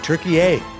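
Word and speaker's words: Türkiye: when did Turkey become Turkey-A? Yeah, I hate that. It's t u r k i y e. I like to t u r k e y, Turkey-A.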